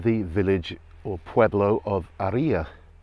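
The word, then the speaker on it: Haría: village or pueblo of aria spelt harrier h-a-r-i-a but pronounced aria the h is silent in spanish and there's an accent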